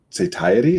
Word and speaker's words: satiety: um obviously this is i don't say satiety is that how that would be pronounced i'm you know as